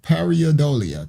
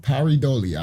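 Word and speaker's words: pareidolia: Now, it says this Henry Martinez, his header, which y'all just saw on his website, features a parodolia. That's what it's called. Paridolia, I think that's how they say it.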